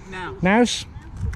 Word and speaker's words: Knaus: Is that how you pronounce it? Knaus? Knaus.